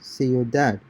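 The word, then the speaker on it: ciudad: see your dad citizen concentrate on combining the two vowels into a single syllable in the manner of the native speakers okay see your dad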